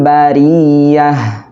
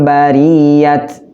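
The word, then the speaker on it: البرية: Nah, perhatikan, huruf ta-nya tidak boleh khairul bariyat. Nggak boleh. Karena itu huruf ta-nya huruf ta marbutoh. Jadi bacanya Ketika waqaf atau berhenti maka huruf ta-nya itu berubah menjadi huruf ha.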